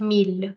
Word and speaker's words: mille: away, and hence I'm left with ville and mille.